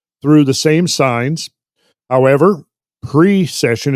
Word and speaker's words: precession: the same signs however pre-session it's important pre-session not procession of the equinoxes because procession in the